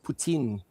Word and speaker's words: poutine: You know, with the Franco-Canadians, they pronounce it Poutine.